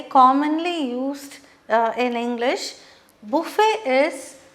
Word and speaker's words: buffet: used uh in english buffet is see the t is silent okay buffet that's what it's pronounced as buffet means where spread of